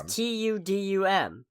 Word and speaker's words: Tudum: Yeah, it's Tudum. Their event is called Tudum, so I assume it's pronounced like the sound and that plays when you open Netflix, the Tudum.